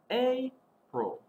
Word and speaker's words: April: you a little trick a in april is saying it's name it's a long a sound a pro a also